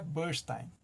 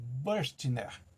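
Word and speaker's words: Bürstner: muito pro inglês né burstein na verdade não é burstein É burstner burstner então é diferente a pronúncia Então eu queria e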